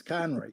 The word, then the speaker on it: Conroy: They can't pronounce? No. Thank you, Conroy. You would be surprised. It's Conroy.